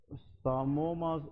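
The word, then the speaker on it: psammoma: को हम हिस्टोपैथोलॉजी में सामोमास बॉडी कहते हैं। क्या कहते हैं, सामोमास बॉडीज। इसमें ये पी साइलेंट है, ठीक है जी, दैट इज कॉल्ड सामोमास बॉडी।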